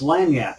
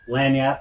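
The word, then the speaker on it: lagniappe: a little bit extra that's lang yap if you will another french word hey look how much we're learning today isn't this fun uh lanyat meaning a little more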